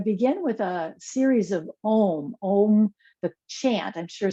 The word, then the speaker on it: Om: really a three-part sound it's spelled o m but it's really uh from all the teachers that it it's really like it's got more sellables than that it's an ah um just the